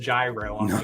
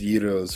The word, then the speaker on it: gyro: uh yiddos I do everyone always tries to tell me that's pronounced gyro I was like the g is silent yeah it's euros for sure I